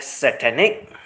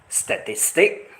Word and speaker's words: satanic: Like satanic, she described or pronounced it as statistic.